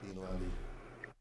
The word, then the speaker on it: Lundy: Lundy, rhymes with dummy.